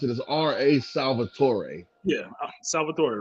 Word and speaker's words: Salvatore: for them his name is like how you pronounce it is r.a salvatore yeah salvatore right so those books got picked